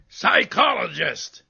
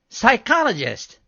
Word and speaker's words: psychologist: was giving examples of words that begin with silent p like pseudo and domain and psychologist psychologist right that's a silent p word too i wasn't